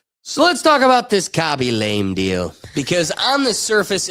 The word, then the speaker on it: Khaby Lame: is this really how you pronounce this guy's name when you say it? Yeah, Khaby lame.